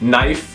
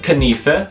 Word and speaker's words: knife: So words like dumb, gate, answer, knife, or gnome used to be pronounced dumba, gata, with the E being pronounced answer, canife, and gnoma, back when we first made up the spelling for the word. But that just got hard to say, so we stopped saying it like that.